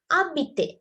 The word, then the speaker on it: habite: So here it is abite. Abite. This H is silent. It's abite.